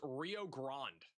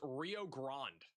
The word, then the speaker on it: Rio Grande: For the $10 super chat, pronounced Rio Grande or Rio Grande. It's pronounced Rio Grande or Rio Grande.